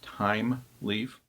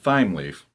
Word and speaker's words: Thymeleaf: now I won't point out that it is pronounced time leaf not time leaf when I first started using timely I have